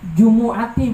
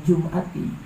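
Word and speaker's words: جُمُعَةِ: Jumu'ati bacanya jangan Jum'ati, Jumu'ati.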